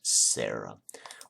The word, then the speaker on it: Ciara: Is going to be, so in Elven native, Ciara, pronounced Sarah.